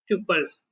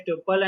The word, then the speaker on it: tuple: is nothing but the tuples. Few people will pronounce as a tuple and few people will pronounce as a tuple. Both are valid only.